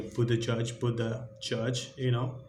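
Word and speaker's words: Buttigieg: It's most like a Buddha Judge.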